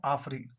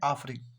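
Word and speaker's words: AFRI: पर आता है बच्चों आफरी सी ए एफ आर आई बच्चों यहां पर सी साइलेंट है और हम इसे बोलते शर्ट में आफरी क्या बोलते हैं बच्चों आफरी अब देखो आप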